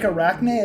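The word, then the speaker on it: Arachne: It's like it's it's it's like Arachnne. It's like it's like kind of like the Greek cuz I was kind of making a nod towards the Odyssey.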